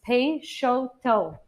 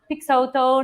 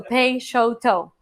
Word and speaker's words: Peixoto: And I always like to start by the pronunciation. It's Peixoto. And when in doubt, it's phonetically spelled on top of our logo. So not Peixoto, not Peixoto, not prosciutto. I've been called all those things. So Peixoto.